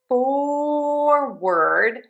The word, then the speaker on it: forward: For forward we have or in syllable number one for. And then for word, even though it's spelled with that o r, we are just going to say an because it is unstressed and reduced.